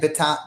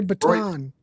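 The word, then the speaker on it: Bittan: Beton. Roy Baton. Even though it's bi T-N, he was playing piano on that.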